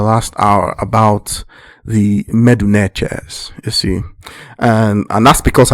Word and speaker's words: Netcher: Netcher is the more correct pronunciation, because it is from there that the word nature comes.